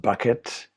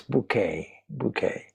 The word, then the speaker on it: Bucket: And her name is spelled Bucket, Mrs. Bucket, as most people pronounce it. But she will stop you there and insist, no, it's bouquet.